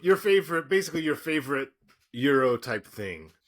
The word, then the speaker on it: gyro: You okay with that pronunciation? No, euro, but okay.